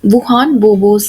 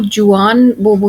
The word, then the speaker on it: Juan Bobo: करेंगे जिसका नाम है वुहान बोबोस स्पॉट। और यहाँ पे एक चीज ध्यान में रखेंगे आप कि यहाँ पे जो प्रोनाउंसिएशन है वो जुआन बोबो नहीं है, वो है वुहान बोबो।